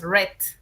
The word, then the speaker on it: read: Se escribe igual, pero su pronunciación es como el color rojo. Dices read. My brother read 2 books last week, ¿no?